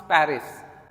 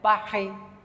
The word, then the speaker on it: Paris: English में भी pronounce पेरिस, but French वाले प्रोनाउंस करते हैं पाखे, पाखे, पाखे.